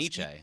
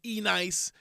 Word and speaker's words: ENYCE: And Yeah, everyone would argue, how do you pronounce it? I said Because Iniche. Yeah, Yeah, yeah. Iniche. Then there was E-Nice. And then I was like, I would say that. NYC. ENNYCE. Okay. But it is NYC.